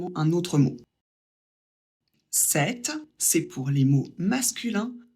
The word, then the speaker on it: cette: en a qu'un seul qu'on prononce 7 exactement le même que pour le masculin sauf qu'il s'écrit différemment il y a de T et un e à la fin mais la prononciation est la même avec celui-là il n'y